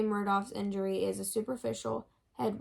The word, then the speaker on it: Murdaugh: It's Murdaugh.